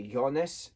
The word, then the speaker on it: Jonas: Jonas's character is that people say his name different all the time they say either Jonas with a J sound they say yonas with a y a y sound I heard somebody say